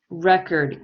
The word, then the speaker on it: record: so one what did you put for number one in exercise two number one record good so the stress is on the re we need to underline